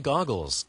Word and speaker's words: goggle: What about my goggles? The ones you gave me for Christmas? 발음으로는 자, 미국 영어에서는 오가 있을 때 아 강하게 할 때 아 발음이 많이 납니다. 우린 고글 하지만 그래서 goggle 어떻게 됐니?